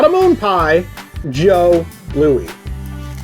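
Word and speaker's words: Jos Louis: not a moon pie joe louie and not as i once heard it called a jewie louie no i can understand screwing up on the joe though because it's spelled j-o-s it's a french thing it's a chocolate cream-filled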